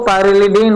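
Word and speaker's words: pyrrolidine: लिख दिया था पर पाइरेडीन मैग्नीशियम ब्रोमाइड इसको पाइरेलडीन बोलते हैं बेटा क्या बोलते हैं पाइरेलडीन स्पेलिंग सही कर लीजिएगा पाइरेलडीन बेटा ठीक जहां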